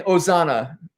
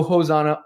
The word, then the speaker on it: Hosanna: very bad leader um you do not pronounce the h in ozana in latin i i'm thinking of you know palm sunday here at church in america it's ozana no h no hosanna ozana ozana next chelsea all